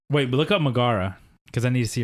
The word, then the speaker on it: Megara: It's Megara.